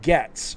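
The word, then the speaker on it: Goetz: Goat says, no, my name is actually pronounced like Getz.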